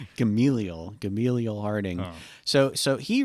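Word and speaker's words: Gamaliel: guy warren harding yes warren gamil not gambling gamel is that how it is yep i learned this at least that's the way he pronounced it i don't know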